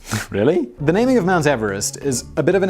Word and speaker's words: Everest: wrong anyway George Everest surn name was actually pronounced Everest there you go so it should be Mount